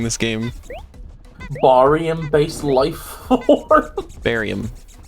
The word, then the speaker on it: barium: game barium based life barium no that's how it's pronounced barium you know like the joke what do you do what do you do with with it with the dead chemist you bury him oh i'm i'm going